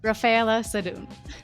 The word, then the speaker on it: Raffaella Sadun: and today we have a very important guest Rafaela sedun welcome Rafaela did I did I pronounce it correctly you pronounce it very well